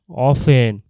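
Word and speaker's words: often: অফেন মানে হল প্রায় বা মাঝে মাঝে। এটার বানান ও এফ টি ই এন হলেও বলার সময় টি উচ্চারণ করা হয় না। উচ্চারণ করা হয় অফেন।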